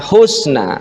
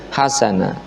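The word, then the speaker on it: حَسَنًا: dalam apa namanya ee tafsir jalal lain itu bacanya bukan husna tapi hasanah waquulu linasi husna mriki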